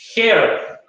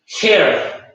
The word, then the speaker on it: her: Pero en inglés sí, y en este caso tratemos de pensar que esa H para nosotros sería una J, entonces sería her, ¿ya?